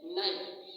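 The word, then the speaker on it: knife: कहते हैं इंग्लिश में नाइफ। इंग्लिश लैंग्वेज में उसको हम नाइफ कहते हैं, NIFE। इसमें के जो होता है साइलेंट हो जाता है, ठीक।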